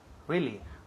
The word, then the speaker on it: really: Really. Muy bien. Really. Really. Y énfasis en la primera sílaba.